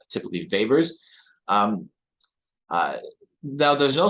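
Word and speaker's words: weber: is a Vapors per meter that's w-e-b-e-r are pronounced typically Vapors um uh now there's no such thing as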